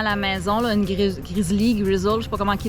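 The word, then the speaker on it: Grizzl-E: on a à la maison, là, une Grizzly, je sais pas comment ils le prononcent. Là. C'est Grizzly, ouais.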